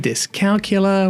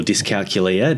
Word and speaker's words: dyscalculia: Ghana people so Bill how should we be pronouncing this disc calula disc calcula what uh it is dis calula or disc calcula depending on how you say it the pronunciation